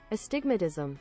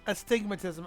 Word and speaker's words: astigmatism: Okay, here's how it's pronounced. Astigmatism. Astigmatism.